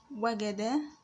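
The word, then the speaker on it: وَجَدَ: The first letter is waw, is pronounced as wa. The second letter is gim, is pronounced as ga. The third letter is dal, pronounced as da. Wa, ga, da.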